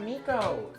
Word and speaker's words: Miko: This is my cat, Miko. Hi, buddy. Hi, Miko. Everybody in chat say hi, Miko. It's spelled M-I-K-O.